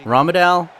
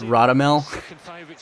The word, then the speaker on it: Radamel: uh my apologies i keep on calling ramadan but apparently it's radamel where is it the